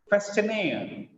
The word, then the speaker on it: questionnaire: Questionnaire. Look at here, it is not question, it is question.